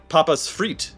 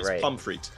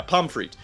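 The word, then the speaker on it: Pommes Frites: place place called um papa's fre or actually it's not I always get that name wrong it's we talked about this before cuz I knew this name pom fre yeah pom fre it's a it it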